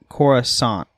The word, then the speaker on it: Coruscant: to say that uh with the second c being silent and the stress of the first syllable uh so corusant with more of an S than a C.